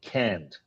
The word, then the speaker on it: can't: And can't, you have to uh pronounce the strong T at the end. So, to give an example, you say I can go I can go or I can't go.